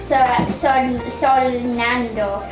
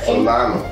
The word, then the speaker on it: Solano: Justin Baldino, TV actor, he was Rafael Solando. Solano.